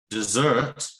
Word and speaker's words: dessert: following stress pattern sorry what is the difference between dessert and desert here the stressing is some and the different syllable the stress is on